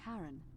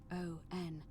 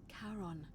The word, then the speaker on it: Charon: The name you heard wasn't Charon. It was Charon, as in Charon, the ferryman of the dead.